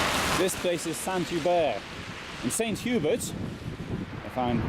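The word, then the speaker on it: Saint-Hubert: this place is Santa by you st.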